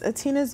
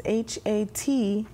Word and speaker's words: Ha'Tina: going to hear that amazing song by our songstress, Hatina. Where else can they find you when they're looking for you? Social media. Sites. Okay, wow. A little bit. So it's Hatina's Music. It's Hatina, S as in Sam, Muzick.